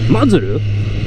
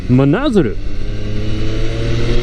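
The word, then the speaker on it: 真鶴: I just noticed that Mazuru, what I just said, the place is actually pronounced Manazaru.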